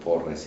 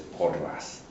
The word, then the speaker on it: Porres: martin de portas and sometimes we mispronounce the word porres and says paulas you know likes you